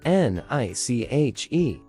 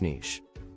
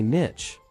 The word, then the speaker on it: niche: more common in English Niche that's right it's pronounced like niching with Beach or leash part two common mistake now here's the common mistake many people say Niche like it's witch or switch and while that's not